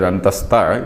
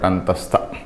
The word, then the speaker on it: antastha: I pronounced it as antastha. It is not sta but antastha.